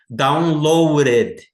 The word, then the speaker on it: downloaded: Downloaded. Veja a pronúncia aqui como se fosse um R, ó. Downloaded. Esse R brasileiro. Red, não é read. Não é downloaded. É downloaded.